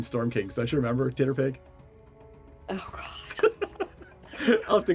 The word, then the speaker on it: TTRPG: My dear, it is pronounced Titterpig. We had this whole discussion in the first arc of the game in Storm Kings. Don't you remember Titterpig?